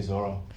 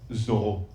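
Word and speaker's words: Zoreaux: Thank you, Zorro. Oh, exactly, but it's actually pronounced Zoho. Zoho. Why? I don't know, because that's how my parents say it, I guess.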